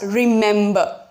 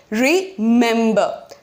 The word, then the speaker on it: remember: to pronounce it as remember right look carefully you're going to put more emphasis on the second syllable remember right so the syllable